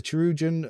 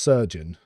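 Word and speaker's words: Chirurgeon: Yeah, the Cherugan. Oh, Surgeon. Cherugan is pronounced Surgeon.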